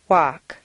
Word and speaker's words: walk: five seven silent ELLs once you've found all the L sounds the good news is that very often you don't even have to pronounce them read the following list